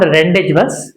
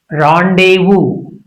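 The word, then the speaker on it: rendezvous: It's not rendage. It's rendevu. Rendevu French or is it rendevu?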